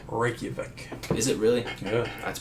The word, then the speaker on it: Reykjavik: Yeah, it's pronounced Reykjavik.